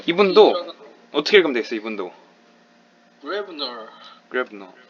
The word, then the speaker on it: Gräbner: 그래서 이 O, 이 두 개의 발음이 왜라고 읽는 걸 알아두면은 도움이 될 때가 많습니다.